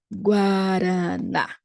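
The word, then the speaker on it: guaraná: don't say that but we may pronounce it when it is combined with an a liking our one of our brazilian's best soft drinks guarana but in the fruit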